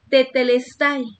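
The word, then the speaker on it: τετέλεσται: Esta palabra, hermanos, consumado es, tiene varios significados y es una palabra griega que se pronuncia tetelestai.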